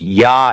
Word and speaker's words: ja: If someone says ja, they mean yes. It is pronounced ya.